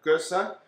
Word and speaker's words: gueuze: Garrett Oliver says that it's sort of like sneezing with the accent on the first syllable, so it's like Gueuze.